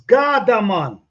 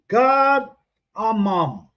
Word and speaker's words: cardamom: It's Gardaman. Cardamom. Let me spell it.